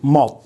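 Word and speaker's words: มด: So this word for ant is just an M sound, and this character, which makes a D sound, as an initial consonant.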